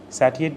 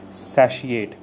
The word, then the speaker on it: satiate: Satiate basically means antonym would be dissatisfied. So pronunciation is satiate. Satiate is how you pronounce this particular word with a she in between.